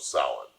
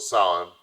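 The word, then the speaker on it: Samhain: ancient Celtic Festival of Sal pronounced s o w- i n Sal the Kelts who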